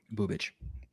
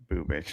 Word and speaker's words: Bubic: Bubich. Bubich. I'm good at pronouncing names.